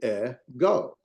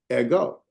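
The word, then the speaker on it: ἐγώ: yeah exactly I mean so the Epsilon e and that is a bow so it is a standalone syllable and we'll show why in a minute uh the gamma Omega is a standalone syll and so you get ego ego we put our Accent on the o ego so our stress and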